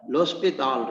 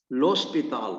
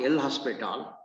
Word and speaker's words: L'Hospital: the following theorem gives a rule called los pital rule you have to pronounce it as los pital not l hospital it looks like as if it is a